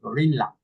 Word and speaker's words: gorilla: Remember that in English, the double L doesn't exist, ¿no?